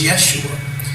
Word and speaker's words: Yeshua: There was no J in pronunciation when this man walked the earth. His name was Yeshua.